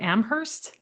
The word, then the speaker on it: Amherst: Amherst.